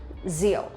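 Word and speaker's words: rượu: zeo zeo zeo okay if you really want to pronounce this one correctly it'll be rule rule but for vietnamese people when we pronounce the r sound we will not pronounce like r in english but we pronounce like z sound in vietnamese or in english zeo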